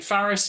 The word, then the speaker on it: Faris: My name, Faris, is like the capital of France, but with an F.